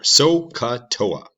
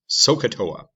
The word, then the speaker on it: SOHCAHTOA: things and i'll show you what they are soca toa that's how it is pronounced sohcahtoa it's fun to say and it's a helpful